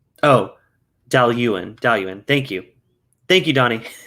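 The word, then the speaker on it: Dalwhinnie: up where did you say oh dale ewan dalian thank you thank you donnie it looks like it's spelled like dow winnie it's about d-a-l-d-a-i-l-u-a-i-n-e that's how i would say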